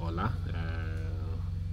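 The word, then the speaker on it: Wula: It's called Ola, but I think it's spelled W-U-L-A also, but they call it Ola.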